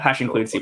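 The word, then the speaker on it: #include <C++>: the name of the, I say include C++. Yeah, hash include C++. Hash include, great, cool. So yeah, do you want to talk a little bit about hash include C++ and I guess like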